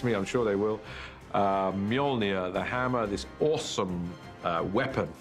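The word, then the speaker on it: Mjölnir: of Thor's almighty hammer the first challenge with the hammer is to work out how to pronounce it he which is Mjolnir in our movie at the moment till somebody corrects me I'm sure they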